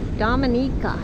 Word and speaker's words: Dominica: So this is Dominica, that's how you say it.